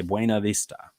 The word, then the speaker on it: Buena Vista: about a beautiful view but if we're talking about the city the way they know if you are not a local is if you say buena vista right and so it's a it's sort of an americanized term but buena vista has